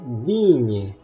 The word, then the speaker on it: digne: Sekarang GN, huruf GN dibaca nye dalam bahasa Indonesia. Contoh, assigné, menugaskan, cagnotte, jackpot. Ini kanyot atau cagnotte ya, saya lupa bacanya. Kalau ini digne, mulia atau berharga.